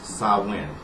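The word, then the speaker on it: Samhain: misunderstandings about October 31st Halloween SL sawin and the way that's spelled is a s a h m a i n I know it sounds like well rather it looks like you would be saying San but is SN and that is the real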